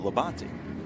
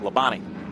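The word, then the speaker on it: Labonte: and he said well we pronounce it leban but all NASCAR fans and announcers call it lebani leani he says they try to shorten all the words right why waste a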